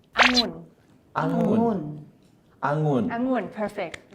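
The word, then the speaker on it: องุ่น: So here are the Thai tongue twisters that like foreigners find hard to pronounce. So the first one, it means grape. You can repeat after me. It's angun.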